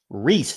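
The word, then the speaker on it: Rhys: I want to remember it's pronounced Reese. Looks like rice, like John Rice Plumlee, the former UCF and Ole Miss quarterback, but it's Reese Dakin.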